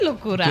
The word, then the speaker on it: Locura: I said Locura.